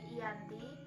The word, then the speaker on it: Giyanti: Nama Giyanti sendiri diambil dari lokasi penandatanganan perjanjian, yakni di Desa Janti. Dalam pelafalan Belanda, ia tersebut sebagai Ianti dan secara tertulis ia terbaca sebagai Giyanti.